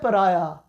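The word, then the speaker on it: pariah: इसको क्या पढ़ना है, पराया. हाउ आर you going to pronounce it, पराया.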